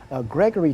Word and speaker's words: Gregory: They hardly ever pronounce the name Gregory correct. They used the second G was always sounded like a K.